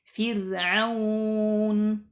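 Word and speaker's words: فرعون: Di sini contohnya adalah Fir'aun. Bukan dibaca fir, bukan, tapi fir, dibaca tipis. Fir'aun.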